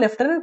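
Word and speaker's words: lieutenant: সো এটার উচ্চারণ লেফটেন্যান্ট, কিন্তু স্পেলিংটা হচ্ছে লাইউটেন্যান্টের মতো, ঠিক আছে?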